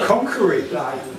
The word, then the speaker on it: Conakry: Oh, Conakry. Right, I'm with you now. Yeah, that makes sense. Conakry.